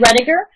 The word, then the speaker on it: Roediger: it David both voters both trigger Oh David Roediger roediger that's how you pronounce it ready redditor yeah and I have